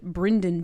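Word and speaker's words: Brynden: her Uncle who's named bryen Tully it's very funny it's spelled b r y nde n very very like Southern baby girl like Brenden this is Brandon Grace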